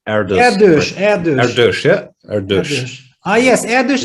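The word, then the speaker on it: Erdős: How do you pronounce Erdos? Erdos, yeah?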